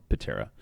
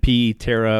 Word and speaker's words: Ptera: word priority terabit became patera we still hear you know the silent p terra or or patera p tara but but it's just it